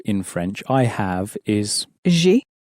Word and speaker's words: j'ai: I have in French, I have is j'ai. It sounds a bit like the English letter J pronounced in a French way.